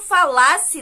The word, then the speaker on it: falasse: Já no falasse, né, de se eu falasse, a gente tem um verbo no tempo passado, né, no tempo pretérito, em que a sílaba tônica, né, a sílaba pronunciada de maneira mais forte, é a sílaba Lá e não a sílaba Fá.